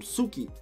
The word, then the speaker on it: Tsuki: is a male character the tee I'm pretty sure is silent so you call him Sookie and he's actually really